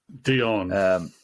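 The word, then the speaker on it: Dionne: Diane Warwick seemed to do quite a lot of Dion Bacharach.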